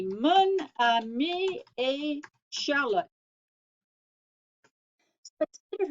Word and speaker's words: mon ami: But look here, ami is feminine, but because it starts with a vowel and the French need to make that liaison, we're going to say mon ami. That's easier for them to pronounce. They don't want two vowels together. Ma ami? No, not right.